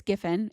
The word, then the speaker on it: Giffin: It's Gifin.